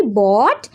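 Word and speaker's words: bought: Spelling है बी ओ यू जी एच टी बोट। यानी आई बोट।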